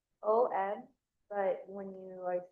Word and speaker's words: Om: And then a long exhale with a Om. And remember, Om is spelled O-M, but when we say it, it's A-A-U. So A-U-M. You're pronouncing it A-U-M.